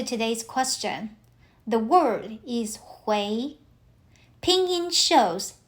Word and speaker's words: 回: So, it is not "ui". The combination represents a sound closer to u e i, "wei". So, h u i is closer to "hui".